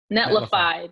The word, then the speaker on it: Netlify: I can't even pronounce it. Is it Netlify? Netlify. Netlify.